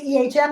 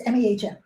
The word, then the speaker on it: Ehm: Whenever people say my name, because of the way my last name is pronounced, people say M and then they say EHM and people think it's MEHM.